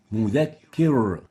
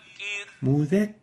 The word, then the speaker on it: مذكر: Second mistake is velarizing the ra, giving it tafkhim, where it should have been attenuated and given tarqiq. An example of that is مذكر. مذكر. Tafkhim, velarized, while the right way of pronouncing it is like this. مذكر. مذكر.